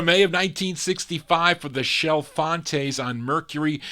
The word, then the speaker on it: Chalfontes: They were called the Shelfantes. They actually phonetically spell it on the label, SHELL-FON-TAYS, but it's spelled CHALFONTES, the Shelfantes.